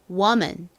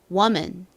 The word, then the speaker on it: woman: 보통 이 단어를 woman이라고 많이 읽으시는데요. 사실 실제 영어 발음은 앞부분이 워에 가까운 발음이 납니다. 그래서 woman, woman 이렇게 발음을 해주셔야 영어 발음에 더 가까운 발음이 됩니다.